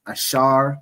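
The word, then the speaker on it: אָשֵׁר: So those those countries in between there are predominantly the tribe of Asha right in the Hebrew it's ash pronounced ashar which means happy the symbol is the royal dainties which is typically grapes.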